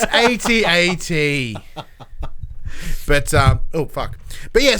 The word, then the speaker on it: AT-AT: Right after they reinforce it, it's pronounced AT-AT, not AT-AT. It's AT-AT.